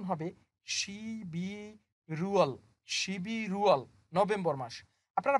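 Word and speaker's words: 십일월: তাহলে এই শব্দটার উচ্চারণ হবে শিবি রুয়াল, শিবি রুয়াল, নভেম্বর মাস।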